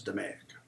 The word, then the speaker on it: DMAIC: DMAIC, which they pronounce DMAIC.